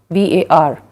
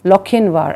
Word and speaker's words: Lochinvar: The spelling is Lochinvar, but it is pronounced as Lochinvar and not Lochinvar.